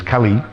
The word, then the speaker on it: Kali: said well no there first of all it's Kali the goddess is with a long way Kali and the personality is Kali of the short a so they're pronounced differently but they're also different